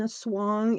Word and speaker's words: Aswang: here that is in a swong it's spelled a-s-w-a-n-g but they pronounce the a as an O so the Swang so